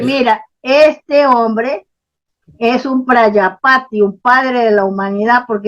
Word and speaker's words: Prajapati: Por eso hacían eso, así, Prayapati con J, Prayapati, quiere decir padre de la humanidad con en J. la India. Vale. Sí, Prajapati se escribe, Prajapati.